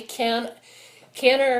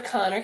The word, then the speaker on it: Kanner: So in the 1940s, there was a guy named Leo, people pronounce it differently, Kanner or Connor, K-N-N-E-R, in Baltimore, who described